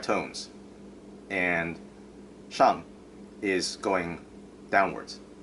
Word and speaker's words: Shang: Um, like a lot of times, most people just say "sang," not "shang." I mean, I don't even know if you could hear the difference, but because the reason is that there's no other word in Chinese that is "sang," which is the reason why